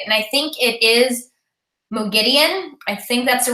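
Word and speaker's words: Moghedien: Yeah, and I noticed that, how in the audiobook they started pronouncing Mogideon's name as that instead of Mogadine. They keep switching. Yeah, so I had to like look it up at some point. I was like, what is the right way to say it?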